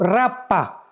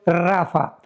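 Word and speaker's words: Rapha: R de Raúl, A de Armando, P de Pedro, H intermedia, A de Armando, Rapa. Pero se pronuncia en el hebreo Rafa, porque los refaitas, lo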